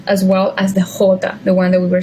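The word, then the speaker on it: jota: stronger yeah okay now the letter J in Spanish the following the one we have right here it's hota okay it's pronounced like an H in English right H in Spanish never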